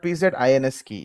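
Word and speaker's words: pzInsKey: PZ, yeah, it's called PZINS key is what we are going to pronounce it.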